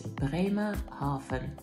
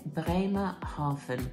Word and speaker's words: Bremerhaven: So you're travelling to a place and the pronunciation is Bremerhaven. I'll say that again, Bremerhaven, because V's are pronounced like F's.